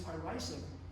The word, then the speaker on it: irisin: be, for some people, what turns on this irisin, which changes your metabolism.